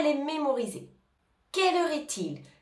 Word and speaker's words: est-il: les mémoriser quelle heure est-il attention on fait bien la liaison on entend bien le T quelle heure estil quelle heure est-il je